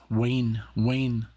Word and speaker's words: Wainwright: I couldn't pronounce the W before. I mean, of course I could, but in Germany, you pronounce it as a, like, V. That's a V, like Wiener, Wein. And here's like a Wayne.